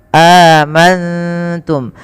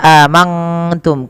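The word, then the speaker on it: آمَنتُم: Cara membacanya, nunnya samarkan kepada huruf ta, amantum, bukan hanya amangtum. Kalau mangtum maka dia berubah daripada makhrajnya.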